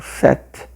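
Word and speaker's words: sept: A gente chama atenção no francês o set, que o P é mudo.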